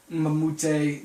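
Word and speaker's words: Mbah a Moute: I could put Luke Richard Mamute. That's his name. If you don't know how to pronounce that, Luke Richard Mamute.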